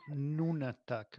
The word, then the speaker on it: nunatak: João, diz-se Nunatak, no island.